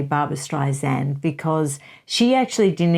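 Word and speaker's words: Streisand: when I say Barbara strian because she actually did an interview where she taught people how to say her name and she said it's sand on the end she even corrected didn't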